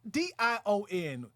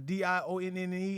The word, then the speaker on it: Dion: did you get that it rhymes with lion i was like shout